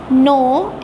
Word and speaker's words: know: नोन, नो, NOKNOW नो, के silent है इसलिए बोलते नहीं हैं।